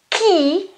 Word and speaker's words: chi: Ki means who, okay? Ki, you notice here it's a chi sound and a e, but in the middle I've got an h, so I won't pronounce this chi, which exists, but it's another word without h. It is ki.